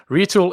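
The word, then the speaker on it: Retül: Retool is spelled RETUL, and I've linked to the URL in the episode description.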